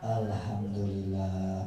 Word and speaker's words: Alhamdulillah: Lun ucapannya begini ketika ada orang yang muuji Alhamdulillah t berarti pujian kepada diri kita beda dengan